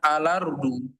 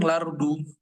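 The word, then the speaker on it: الأرض: dengan lam takrif misalkan di lafaz ardu Maka cara bacanya alardu. Alardu ya. Ini wajah yang muqaddam. Bisa juga langsung lardu. Ya, ini wajah yang tidak muqadam.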